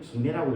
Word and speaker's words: 김해: 원래는 금해라고 해야 되는데 우리는 김해라고 읽죠.